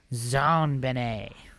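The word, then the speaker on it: JonBenét: John Bennett Ramsay and her name is pronounced in a French style Zan Benet that's what it says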